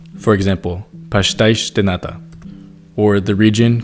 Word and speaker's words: pastéis de nata: In European Portuguese, you'll hear a lot of sh sounds, since the S pronounced at the end of words makes that sound. For example, pastéis de nata, or the region called Cascais.